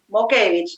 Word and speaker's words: Mockevich: Motkevich, espero que esté bien pronunciado. Mokevich es de origen lituano, suena, lo lee, parece difícil, pero es Mokevich, sencillo, Mokevich, Lituano, ok, fácil.